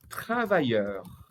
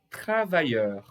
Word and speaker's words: travailleur: Podemos usar também uma outra palavrinha aqui, que é derivado, que é o travailleur. Olha a pronúncia. Travailleur.